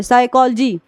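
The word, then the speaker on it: psychology: है साइकोलॉजी पढ़िए इसको पी एस यानी पी के बाद एस आया है तो हम प का यहां पर क्या कर रहे हैं उच्चारण नहीं कर रहे हैं यहां से पढ़ रहे हैं साइकोलॉजी ठीक है इसके बाद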